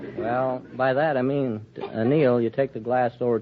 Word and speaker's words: anneal: It's annealed. It's an eel? I thought it was a television tube. No, it's anneal. A-N-N-E-A-L.